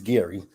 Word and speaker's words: Gary: with um Mr Gary which is name is spelled g r r y I thought it was Jerry to begin with but hey it's Gary so we got introduced